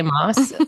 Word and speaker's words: Maas: her name right again I don't like saying Moss now sound the hairdresser said that it's Moss I don't know what